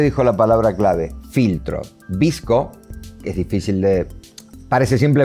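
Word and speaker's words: VSCO: la palabra clave filtros visco es difícil de parece simple de pronunciar pero se escribe psc o no no tiene no tiene una vocal en el medio y una particularidad que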